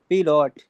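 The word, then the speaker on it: Pilot: Rohan is पिलोट ठीक है ना पिलोट पायलट है वैसे इसका प्रोनाउंस जो होगा वो पिलोट हो जाएगा इसके बाद अगला सेंटेंस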